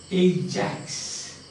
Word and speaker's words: Ajax: The pronunciation is Ajax.